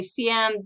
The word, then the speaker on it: Siam: And if I say Siam, then you get the people from America and Canada saying, what in the world is that? Well, I'm just warning you now that I'm using the Thai pronunciation.